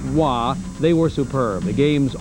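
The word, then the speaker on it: Roy: In that game, goalies Mike Vernon out of Calgary and Montreal's Patrick Wah. That's spelled R O Y but pronounced Wah.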